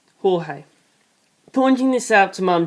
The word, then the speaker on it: Jorge: called me George and everyone pronounced my name the Spanish way Jorge pointing this out to